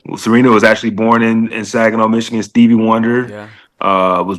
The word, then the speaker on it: Saginaw: you're from, and I don't know if I'm pronouncing it right, but is it Saginaw, Michigan? Is that how you say it? Yep, Saginaw, Michigan.